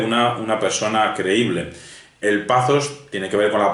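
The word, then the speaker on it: pathos: bueno se escribe estos pero se pronuncia esos pazos se escribe patos que se producía pazos y logos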